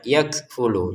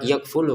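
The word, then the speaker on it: يَكْفُلُ: Kafnya kita keluarin nafas sedikit ya. Yakfulu. Jangan sekedar yakulu gitu ya. Lnya pendek.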